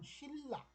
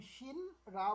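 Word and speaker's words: 신라: শিল্লা, শিল্লা, যেমন আমরা আল্লাহ যেভাবে বলি এরকম ন আর র মিলে ল ল হয়ে যায়, শিল্লা।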